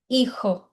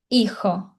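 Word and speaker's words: hijo: A letra H igual português não tem não tem som, então é mudo. Por isso que aqui a gente tem a palavra filho, que é irro. Tá vendo que eu não pronunciei? É como se fosse só a letra I aqui, ó.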